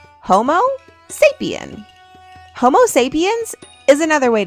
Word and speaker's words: Homo sapiens: You say it like this, Homo sapien.